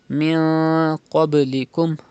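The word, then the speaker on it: مِن قَبْلِكُمْ: You have to pronounce like this, min qablikum, and also pronounce qaf with thicker voice because it is a mustaliya letter, and do qalqala in ba. Qalqala means to rebounce the sound, to make an echo sound.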